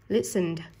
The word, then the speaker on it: listened: Listened. Play. Âm cuối cùng là âm i, không có trong hai quy tắc này nên đuôi ed đọc là d.